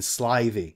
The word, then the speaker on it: slithy: toves the eye in slivy is long as in writhe and toves is pronounced